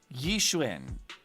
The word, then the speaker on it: Yixuan: Try traditional Yishwin. Okay, that makes the most sense to me. I can do that. I can pronounce it that way.